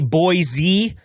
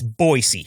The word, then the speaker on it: Boise: Uh A lot of people will say Boise. No, it's Boise. Trust me, I've lived close to it for my entire life.